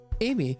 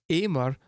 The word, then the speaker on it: Aimer: which I saw is Amer was actually pronounced it was like the chat was telling me it was pronounced in like kind of French way of saying that word which so went for Amy but I'm not 100%